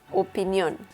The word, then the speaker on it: opinión: Opinion in Spanish is opinión. opinión. The intonation there is on the letter O, the second O.